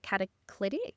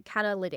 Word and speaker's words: Catalytic IT: So now I looked on LinkedIn and you work full time now as an account manager at, if I mispronounce this, please correct me, Catalytic? No, Catalytic.